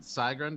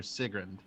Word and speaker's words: Sigrund: should I pronounce it saigrund or sigrund uh I meant for it to be pronounced sigrin but you know what